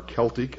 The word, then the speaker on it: Celtic: Examples are ancient Mexican, Mayan, Inca, Aztec, Sumerian, Babylonian, Assyrian, Egyptian, Celtic, or Celtic as some pronounce it, Aryan, etc.